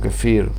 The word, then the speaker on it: kefir: supermercados Gondolas Centeras con Kefir, con distintos gustos, distintas cosas, de distintas formas. Acá poca gente lo conoce, se escribe con K, kefir, así como se oye, Kefir.